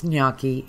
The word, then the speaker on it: gnocchi: I think that's important so it's nyaki it's not noi it's not noi it's